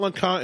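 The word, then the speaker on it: LeConte: Uh number three, Mount Lacant. Mount Lacant is a mountain that has I hiked it in 2012 when I was skinny.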